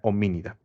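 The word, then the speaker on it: Hominidae: Cuando encuentran la palabra AE al final, la E es muda, se pronuncia solamente la A. Bien, familia homínida.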